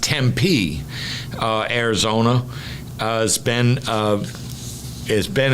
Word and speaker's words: Tempe: right there City of Tempe uh apparently it's pronounced Tempe uh Arizona uh has been uh has been